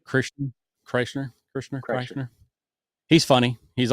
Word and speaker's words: Kreischer: Kreischer. Krishner, Kreischer.